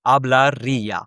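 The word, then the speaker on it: hablaría: one word which is hablaria. You add ear. And here the stress is on the ear.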